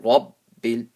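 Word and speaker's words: رب: Walhamdulillahi rabbil. Hold on to the ba. Rabb, raw full mouth.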